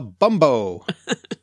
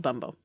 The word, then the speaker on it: bumbo: they're called, Mark, because you've had such joy pronouncing this word since I told you about the drink. Indeed. It's called a bumbo.